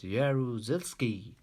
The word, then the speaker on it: Jaruzelski: say aru cels ki I and this is pronounced as jaruzelski come on say again with me yeah rules